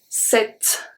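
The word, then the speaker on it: sept: already know it so when we have pt we don't pronounce the p we are only going to pronounce the t let's see set i told you you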